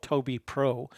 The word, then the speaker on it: Tobii: Her name is Toby Renee, and she works for a company called Toby Pro. It's spelled Tobii. It's a Swedish company, so she gets to do a lot of traveling.